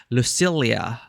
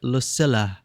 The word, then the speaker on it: Lucilla: If I were to read it as someone from my country, double L tends to be Lucilia. But in this game, they pronounce it Lucila.